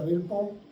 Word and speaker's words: Belpeau: O le ponen un yeso Belpó, que se escribe Belpeau, ¿no? Se pronuncia Belpó, lo machucan y como eso agarra todito el hemitórax, ¿no?